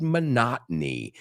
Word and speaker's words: monotony: Monotony, monotonía. So, quitamos sílabas ahí en inglés y el énfasis está en otro sitio.